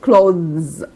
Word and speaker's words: clothes: When we mean the plural of يعني الجمع او كلمة الملابس بقى نفسها we say it clothes. So take care of the pronunciation and take care of the difference in spelling.